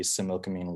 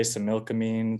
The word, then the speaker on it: Similkameen: And we say Similkameen. The original pronunciation is more like a GH at the end or an X.